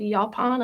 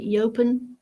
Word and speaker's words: yaupon: native caffeine containing plant it's called yaupon i think they pronounce it yopan i don't know y-a-u-p-o-n and you can make tea